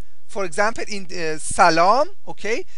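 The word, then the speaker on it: سلام: This is short a, so we pronounce it a. Lam is a long a.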